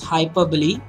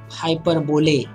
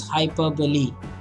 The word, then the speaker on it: hyperbole: please okay guys hyperbole is one important pronunciation for you to study it is hyperbole it's not hyperbole it is hyperbole that is the best some groaning repetition also